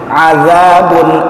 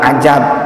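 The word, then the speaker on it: عذاب: Azabun alim bukan ajab, azab.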